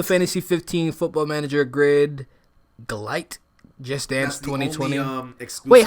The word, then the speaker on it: Gylt: It's that one that you really couldn't pronounce that well. What was it called again? Glite.